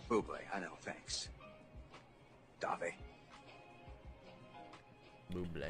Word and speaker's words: Bublé: That's a bubble. She's right, Michael Bublé. It's pronounced Bublé. I know. Thanks. Dave. Bublé. Can I have your autograph, Mr. Bubbly?